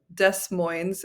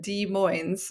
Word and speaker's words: Des Moines: Des Moines is not me mispronouncing Des Moines, Iowa, and it's not consistent where we pronounce the S on both. Des Moines. It's here in Washington. We have Des Moines.